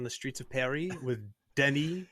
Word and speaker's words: Denis: I want to, you know, direct traffic on the streets of Paris with Denis, which is how you say Dennis in French, by the way.